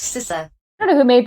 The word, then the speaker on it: CISA: sisa seriously it's not that hard it is pronounced sisa I don't know who made that decision and